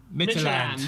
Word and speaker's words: Midtjylland: Midtjylland. Midtjylland, okay, thank you.